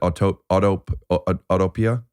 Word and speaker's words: Autopia: or the vintage Disneyland Autopia. Autopia. I mean, that's how I spelled pronounce with it. auto. That's it's like utopia spelled with auto.